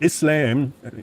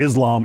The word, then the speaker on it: Islam: Okay, so Islam, unfortunately I always end up pronouncing things like an American. It's not Islam, it's Islam, and it's not Muslim, it's Muslim. And the two words are connected, right?